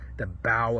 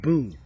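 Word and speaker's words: bough: where he went through the bow of a tree why isn't that pronounced boo because other words that are spelled similar to lead to bow of a tree are pronounced buu it's an example of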